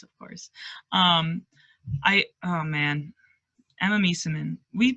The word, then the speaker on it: Meesseman: Oh man, Emma Meeseman. We pronounce She's Meeseman so good. differently. We do. I think I used to say Misamin, but in all those In all those World games, Cup yeah.